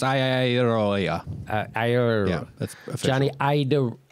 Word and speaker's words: Iadarola: Yeah, it's pronounced Iadarola.